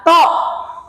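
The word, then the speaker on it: と: to to to to jangan terpengaruh dengan pelafalan bahasa Inggris tu to bacanya tu jangan terpengaruh karena kebanyakan pelajar bahasa Jepang terpengaruh dari hafalan bahasa Inggris sehingga menyebutkan kosakata-kosakata bahasa Jepang itu sering salah jadi dia bukan tu tetapi to kemudian Des bukan Death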